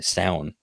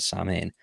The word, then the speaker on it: Samhain: Sam, Sound. That's how I'd pronounce it. That's the proper way, but everyone calls it Samhain. But Sound is like the Irish word for Halloween. It's the Irish Halloween festival.